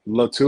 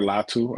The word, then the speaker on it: Latu: Am I pronouncing that right? Kamo'i Latu? Yep, Kamo'i Latu or Latu, either way.